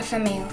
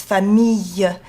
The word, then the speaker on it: famille: Also, another word is famille. You've got to have like a y, yellow, like in yellow.